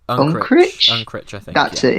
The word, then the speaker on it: Unkrich: Unkrich?